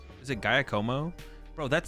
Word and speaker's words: Giacomo: It's Yakimo. Like whack-a-mole. Giacomo.